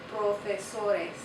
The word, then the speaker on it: profesores: And remember in Spanish, all the vowels make sounds, so this one's going to be pronounced also. It's going to be pronounced A. So it's profesores, profesores. Profesor, profesores. Tareas, carros.